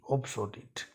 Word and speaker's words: obsolete: Spelling है OBSOLETE, ऑब्सोलीट।